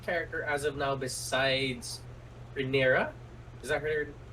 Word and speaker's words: Rhaenyra: Yeah, and we also get introduced to probably my favorite character as of now besides Rhaenyra. Is that how you pronounce her name? Yeah. Yeah. Besides Rhaenyra is Daemon.